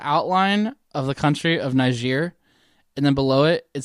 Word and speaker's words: Niger: Yes, Nigeria. Niger. It's Niger. Niger. Niger. It's French, right?